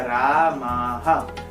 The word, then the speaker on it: रामाः: विसर्ग क्या है, ह है, ह प्लस आ, हा, तो उच्चारण क्या होगा, रामाः, रामाः। यह हो गया इसका उच्चारण।